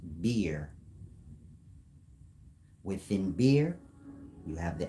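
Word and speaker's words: Buer: named bu b u e r bu is pronounced beer within beer you have The Agonist and the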